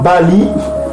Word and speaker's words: Baal: C'est Bali. Ça se prononce Bali.